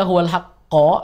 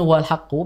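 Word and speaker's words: هُوَ الْحَقَّ: Ya, sebenarnya kenapa dibaca huwal haqqo atau dia bacanya huwal haqqu, biasanya dia sudah terpengaruh dengan hafalan lama.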